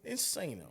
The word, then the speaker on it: Insano: kid cuties insano insano insano is how we pronounce that with the abstract our